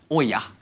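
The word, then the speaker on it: Oia: The island is home to Oya. Oya. Oya. You're going to say it like you're calling someone over.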